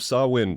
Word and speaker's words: Samhain: welcome back to the season of sawin yes that is how you say that no don't worry about